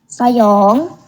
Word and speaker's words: สยอง: สยอง สยอง นะ คะ อ่าน ออก เสียง เป็น กี่ พยางค์ มี 2 พยางค์ 2 พยางค์ สาด แล้ว ก็ ใหญ่ อ๋อ ง ใช่ ไหม อ่ะ ฉะนั้น คำ ว่า สยอง นะ คะ เป็น หอ นำ ยอ น้ำ ยอด นะ คะ